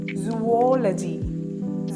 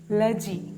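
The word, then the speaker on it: zoology: ഉണ്ട്വൺ to three four ലജി ലോജി അല്ല ലജി അപ്പോ നിങ്ങൾ ഇവിടം തൊട്ട് പറഞ്ഞേ ലജി സുവോലജി റിപ്പീറ്റ് ആഫ്റ്റർ മീ സുവോലജി അതിന്റെ മലയാളം ഞാൻ എഴുതിയിട്ടുണ്ട് സുവോലജി സ്ട്രെസ്സ് ചെയ്യേണ്ടത് ഈ സെക്കൻഡ് സിലബിൾ ആണ് അടുത്ത വേർഡ് ആണ് എസ്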